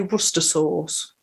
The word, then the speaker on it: Worcestershire: It's spelled Worcestershire. That's how it looks. This has been a topic of hot debate amongst the podcasters here. I say it like that. I say Worcestershire, but there was hot debate. Let's put it that way. Some people actually say Worcester sauce.